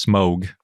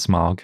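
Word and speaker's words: Smaug: names each 19 men 14 dwarves 13 dragons smog is the most popular and apparently it's actually pronounced smog not smog in case you want to be a real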